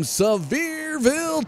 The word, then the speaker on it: Sevierville: Up next, this guy was gracious enough to give me the pronunciation of his hometown from last night. This is the 00 of Travis Houck from Sevierville, Tennessee.